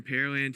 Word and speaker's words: Pearland: here in pearland texas for a lot of people curious about the pronunciation pear land the land where they grow pears it's easy way to think of it it's not where they have pearls there's no lake or